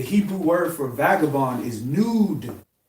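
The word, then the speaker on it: נוד: The Hebrew word for vagabond is nude. Nude, like N-U-D-E, but it's spelled N-U-D.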